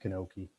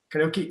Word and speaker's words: Kanoki: My last name's Kanoki. It's pronounced Kanoki. Kanoki.